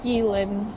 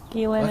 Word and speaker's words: Ghislaine: These vamps are the Ghislaine Maxwells. That's the pronunciation. That is not Ghislaine and Epstein and the people who they recruit and hand over trafficking victims to.